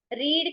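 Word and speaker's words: read: कट है ठीक है रीड का रीड रीड रीड ही है बस उसमें हम क्या बो बोलते हैं रीड स्पेलिंग सेम है बोलते हुए इसको रेड रेड बोल देते हैं आई रेड योर आर्टिकल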